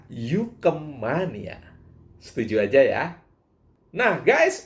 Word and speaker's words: UKM Mania: sebagai UKM Mania Hai Tapi bacanya Yuke Mania setuju aja ya nah